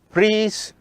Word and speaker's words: Fries: If you come across any name where you have the letters E and I, the pronunciation should be I. For example, REIMER, Reimer, the name is Reimer. If you get the letters I and E, then it should be E, therefore, it should be Freeze rearrangement.